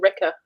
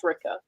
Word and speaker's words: Rikke: Ricka. No, she said it rhymes with pricker or something. Yeah. And I was like, I think it's Ricka.